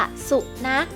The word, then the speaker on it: สุนัข: ว่า นัก นะ คะ ตัว สะกด จะ ใช้ ขอ ไข่ ค่ะ ใช้ ขอ ไข่ เป็น ตัว สะกด นะ คะ ซึ่ง มี เสียง เหมือน กับ ก ไก่ แม่ กก เหมือน กัน นะ คะ สุข